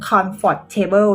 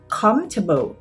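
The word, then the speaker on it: comfortable: ไม้ ของ เธอ เบิ้ล คน ไทย ออก เสียง Comfort Table ใช่ มั้ย ก็ คือ Comfort Table ตรง ๆ เลย แต่ จริง ๆ แล้ว ภาษา อังกฤษ จริง ๆ มัน ไม่ ใช่ Comfort Table มัน คือ คอม Table เรา ต้อง พยายาม ออก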